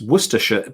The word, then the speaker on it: Worcestershire: as worcestershire you see that's the trick of the word it's cester it's worcestershire but it's yeah this is it it's spelt worse esther and it's pronounced worcestershire so you know it's